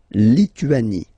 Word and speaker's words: Lituanie: Remember in French, sorry, H doesn't exist, okay, so you don't pronounce it, and it's li, tu, a, ni, Lituanie.